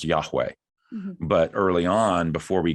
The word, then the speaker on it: Yahweh: were A and E, and it would be pronounced Yahweh. But early on, before we got some of those better understandings, it was thought, well, it's pronounced Jehovah, and it's not.